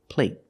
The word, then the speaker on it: plate: the vowel is longer play there's no stop T so the vowel is longer here play compared with plate plate the stop T makes the vowel shorter they're the same vowel they're the long a but the stop T at the end makes the long a a little shorter let's listen again play